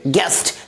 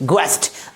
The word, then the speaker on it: guest: अगले example GUEST, क्या पढ़ेंगे गेस्ट ना कि ग्वेस्ट।